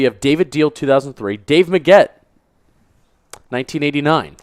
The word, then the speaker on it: Meggett: Dave Maggett, 1989. Are you sure it's Maggett or Dave Meggett?